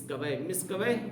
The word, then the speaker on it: مسکویہ: ابن مسکویہ کہ جس طرح سے ابن بابویہ یا ابن سیبویہ وغیرہ کہا جاتا ہے، ویسے ابن مسکویہ یہ تلفظ صحیح ہے.